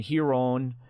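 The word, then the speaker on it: Ryron: And what you'll discover is they all have names that begin with R, but you make an H sound when you pronounce them. So yes, that's part of the Portuguese.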